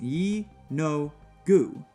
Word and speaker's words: Yeenoghu: According to legend, all Gnolls are descendants from the demon prince Yeenoghu, pronounced Yi-No-Gu, the ruler of ruin and the lord of savagery.